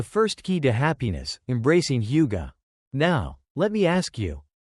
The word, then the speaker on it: hygge: It's called hygge, pronounced hygge, and it is one of the most powerful secrets to their happiness.